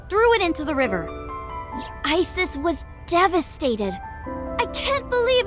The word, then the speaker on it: Isis: Horus's mom is named Isis, but in ancient Egyptian, it's pronounced closer to Ise or Asa.